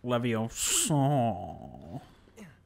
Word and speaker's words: Leviosa: It's pronounced Leviosa.